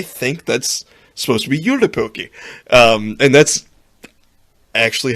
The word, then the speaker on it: Joulupukki: So yeah, when you were talking about the goat, I was like, I think that's supposed to be Joulupukki. And that's actually how it's pronounced.